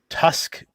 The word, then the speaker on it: T.U.5.5.C.: uh the red jet Tusk pilot um which I've almost always weird to say Tusk when there's two fives I know I know it's it's it's pronounced Tusk but um from the